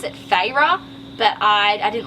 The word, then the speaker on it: Feyre: In the book they pronounce it Feyre, but I didn't like that, so I called her Feyre.